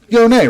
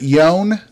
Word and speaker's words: Yone: That's how I pronounce it. Does anybody in the chat pronounce it Yone? And if you do, please see yourself out. No, I'm just kidding. I've heard people say it both ways.